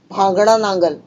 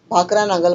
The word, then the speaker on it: भाखड़ा नांगल: भांगड़ा नांगल। ये हिंदी में लिखा गया है, प्रोनाउंसिएशन बदली हुआ है, भाखड़ा नांगल बोलते हैं हम लोग मराठी में।